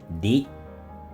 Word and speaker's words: 理: Il se prononce « ri ».